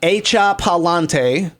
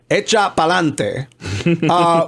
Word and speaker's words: Echa pa'lante: RuPaul likes to throw the phrase out, "Echa pa'lante," but it correctly pronounces "Echa pa'lante."